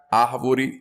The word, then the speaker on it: árvore: África, árvore, lâmpada.